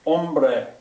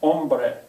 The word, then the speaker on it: hombre: An initial TH, that means if it starts the word, it's silent. Hola starts with an H. Hombre is the word for man. Hombre, it starts with H.